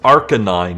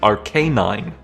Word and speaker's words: Arcanine: is based after it's not pronounced Arcanine it's Arcanine it's Arcane plus canine it's right there die